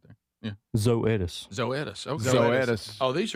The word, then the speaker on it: Zoetis: Zoetis.